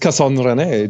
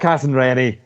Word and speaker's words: Casson-René: me, Casson-René, which is not pronounced Casson-René, just to be clear. I felt like that was really... Casson-René. That's how you say it.